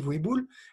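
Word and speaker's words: Vohibola: association qui s'appelle Razani Voéboul, les ancêtres de Voéboul, la forêt du même nom, Voéboul, que je vous engage à découvrir sur Internet. Vous faites Google Voéboul, ça s'écrit Voibola, V-O-H-I-B-O-L-A, et vous verrez qu'elle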